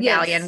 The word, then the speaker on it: Galyean: And I love that you told me beforehand, Galyean rhymes with scallion. So, Erin Galyean, welcome to the show.